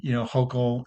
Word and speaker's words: Hochul: had their commission, and then Hochul, is that how you say her name?